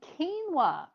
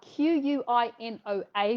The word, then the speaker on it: quinoa: are my thoughts on quinoa so quinoa is about q-u-i-n-o-a but pronounced keen as in i'm very keen to do something quinoa is firstly it